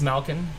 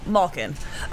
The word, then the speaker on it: Malkin: Steve also pointing out that you guys have to resign Malkin, and I never know if it's Malkin or Malkin because they pronounce it both ways. It's Malkin.